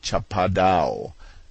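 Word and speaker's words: chapadão: to the brazilians as cha padao pronounced almost as if it were a french word and spelled s-h-a-p-a-d-o-n our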